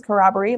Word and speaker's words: corroboree: which makes sense because corroboree sounds like the word corroborate right so we get together